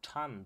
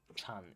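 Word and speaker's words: 禪: called Zen Buddhism or tun Buddhism in Chinese Zen is actually the Japanese pronunciation of the same word tun in Chinese and at this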